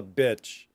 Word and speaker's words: bitch: And by the way, a female dog is known technically as a bitch, not the same sound.